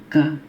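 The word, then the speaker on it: ك: Yang ini ringan saja, ka ya, ka. Jadi dia ada desirnya sedikit, ka. Yang ini ko, yang ini ka. Baik, ulangin, ko, ka ya.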